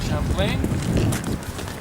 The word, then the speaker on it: Champlain: Pronounce it the French way, Champlain.